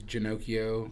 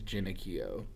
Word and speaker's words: Genochio: All right, so it's the Americanized version is Genochio. The correct way to say it is Genochio.